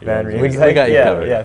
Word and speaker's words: van Riemsdyk: Van Riemsdyk. Van Riemsdyk.